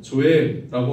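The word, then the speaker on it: ζωή: 헬라어에서 말을 나는 그 생명의 두 번째는 헬라어 발음으로 조의라고 하는 그 영의 생명이 있습니다 육체의 생명이뿐만 아니라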